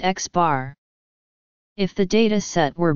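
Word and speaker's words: x̄: The arithmetic mean of a set of numbers x1, x2, xn is typically denoted by x, pronounced x bar.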